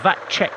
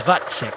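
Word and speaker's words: Vacek: other day because uh I thought it was that check but it is vatsik so thank you very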